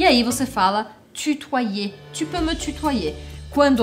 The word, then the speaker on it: tutoyer: Est-ce que vous allez vous voyer ou tutoyer la personne? Pra quem ainda tiver com alguma dúvida de pronúncia, preste atenção. O Y em francês, ele tem um som que equivale a dois Is.